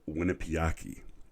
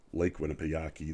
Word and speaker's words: Winnipesaukee: Season 5, Episode 9, called Winnipesaukee. I believe is how you say the word. It's in reference to a Lake Winnipesaukee, that they're going to steal a shuttle.